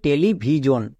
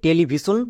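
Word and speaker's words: television: তাহলে এটা কি দাঁড়াচ্ছে টেলিভিজন আমরা একে টেলিভিশন যদি বলি তাহলে ভুল করবো কেন কারণ এস এর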